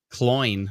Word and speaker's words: Cloyne: Roberta says, rhymes with coin. Cloyne rhymes with coin.